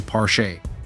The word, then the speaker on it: Porsche: pronounce it right please Porsche is very particular about how you pronounce their name they even released a video on how to say it correctly parche it's like they're talking